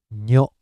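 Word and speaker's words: ニョ: And this is nyo, nyo, nya, new, nyo.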